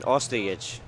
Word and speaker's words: Ostojic: Why don't you give us the correct pronunciation of their last names there, Oliver? I think it's Gregurovic and then Ostojic.